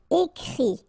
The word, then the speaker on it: écrit: And then the IT, phonetically you pronounce I, because final T is not pronounced, but still. Écrire, to write, écrit.